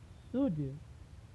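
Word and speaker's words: should: प्रयोग किया गया हो, तो वहाँ पर यल साइलेंट होता है। जैसे शुड, कुड, यूड।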